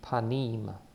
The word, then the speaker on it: panim: the e sound right so the pronunciation should be panim panim and it means face